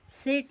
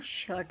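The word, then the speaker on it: shirt: इसको हम बर्ड पढ़ेंगे सेट नहीं पढ़ेंगे इसको शर्ट पढ़ेंगे तो जो है आई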